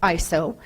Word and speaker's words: ISO: And just to kind of throw you off, if you didn't know, it's actually pronounced ISO.